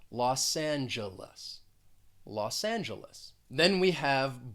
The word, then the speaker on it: Los Angeles: city of angels and again in that second word the first syllable is stressed the g is going to sound more like a j and the second and third syllable have that uh that schwa sound los angeles los angeles